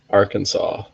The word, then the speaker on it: Arkansas: When people start pronouncing the states, they see Kansas and Arkansas. Some people are going to say Arkansas, but no, it's Arkansas.